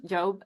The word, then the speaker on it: Job: The story, is that how you say it, Job? yeah, in English. In English, Job.